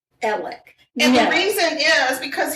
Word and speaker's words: Alex: of trouble right now his first name is spelled a-l-e-x alex so he goes by are you ready for this ellick and the reason is